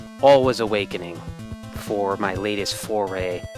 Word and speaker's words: Alwa: all of us awakening the V sound in there but I'm just going to pronounce it like like an American and not like a Swede all was awakening for my latest